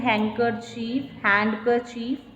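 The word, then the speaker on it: handkerchief: Next is the listener dress the wounds of the speaker with his हैंडकरचीफ. ठीक है, इसमें हम D silent बोलते हैं.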